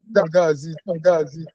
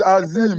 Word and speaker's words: Azim: Gazi. Is it? I said it's Azim. It's not. Okay, Azim. Yes, sir.